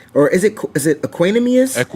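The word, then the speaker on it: Equanimeous: So, then you got Tariq Owens and you got Equinmius or is it is it Aquinamus? Equinimmus. See? Equinimmus. Is it the pronunciation right here?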